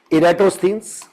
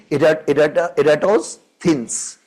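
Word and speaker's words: Eratosthenes: 3rd century BCat means we Indians go for a wrong pronunciation thins. But the original pronunciation would be erats thins. So we'll say it ertoins.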